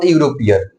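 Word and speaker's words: European: लिख दे स्वर, प्लस अब इसका हिंदी जो उच्चारण निकल रहा है यूरोपियन, यूरोपियन।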